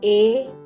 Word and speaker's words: ए: To pronounce A correctly, pronounce it as you pronounce EI in English word 8.